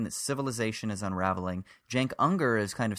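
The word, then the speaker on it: Cenk: And then Jenker, is that how you say his name?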